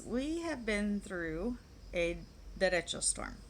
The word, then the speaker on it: derecho: have been through a direction storm that's how it's pronounced in spanish in english it would be a directo storm so um it